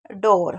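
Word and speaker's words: door: पढ़ेंगे जैसे पुअर पुअर और एक लोलती ऐसी वर्ड मीनिंग है जिसमें ओ पढ़ते हैं वो हैं डोर। ठीक है? तो डोर वाला जरूर याद रखिएगा क्योंकि इसमें आपको कंफ्यूजन नहीं करना है।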